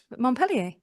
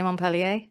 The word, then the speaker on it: Montpellier: Montpellier. Montpellier. He hates the way I say Montpellier. Montpellier. Well, you say it like a European.